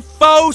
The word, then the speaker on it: faux: These are genuine faux sapphire earrings. 14 karat gold, 86 karat faux sapphire. Faux is a French word. It's got an X in it, but you don't even pronounce the X.